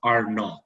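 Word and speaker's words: R₀: It's known as the basic reproduction number, denoted as a R with a small subscript 0 and pronounced R0.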